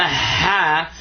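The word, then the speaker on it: ح: So this is the ha, like when you blow on a glass or your glasses or clean a mirror or something like that.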